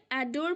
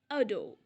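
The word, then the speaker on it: adore: আমরা অনেকে এটাকে অ্যাডোর প্রোনাউন্স করে থাকি, যেটা সম্পূর্ণ সঠিক নয়। এটার প্রোনাউন্সিয়েশন হবে অ্যাডো। অ্যাডো অর্থ খুব পছন্দ করা।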